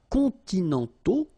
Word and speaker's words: continentaux: Okay, so les climats continentaux, remember, final X not pronounced, and then this AU together, they give you the sound O, okay?